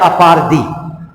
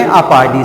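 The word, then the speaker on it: apartheid: Okay जो ये term लिखा हुआ है अपारदी, इसका प्रोनाउंसिएशन क्या है? अपारदी.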